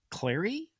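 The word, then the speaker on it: Clari: Kyle, you're the VP of Revenue and Growth Enablement at Clary. Did I pronounce that right?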